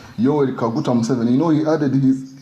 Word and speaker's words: Yoweri Kaguta Museveni: Am I pronouncing it correct? Yoweri Kaguta Museveni.